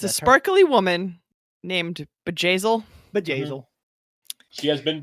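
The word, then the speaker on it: Bjayzl: white attending to a very important person named bejazel and how do you spell the gazelle uh it's spelled b j a y z l z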